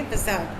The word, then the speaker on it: facade: पुट अप अ फसाद, FACADE कैसे pronounce करेंगे? फसाद मतलब to pretend to be something you आर नॉट।